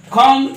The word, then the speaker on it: comb: নাও use your finger, ওকে, তোমার চুল আঁচড়াও, তাহলে কি বলবো, comb your hair, Comb your hair. comb, এই যে বিয়ের উচ্চারণটা না করবো না ভালোভাবে, ওটা কিন্তু সাইলেন্ট মতোই থাকবে, ওকে, comb your hair, তাহলে চুল আঁচড়াও কি হলো, comb your hair.